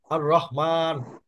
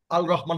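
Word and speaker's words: الرحمن: আর রহমান, আল রহমান হবে না।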